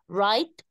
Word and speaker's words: write: ونخلي بالنا ان في الثلاث تصريفات الدبليو ما بتتنطقش, write, wrote, written.